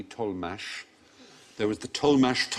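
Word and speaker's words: Tollemache: spell T o WL e ma CH e told mash there was the tol mashed ol mash family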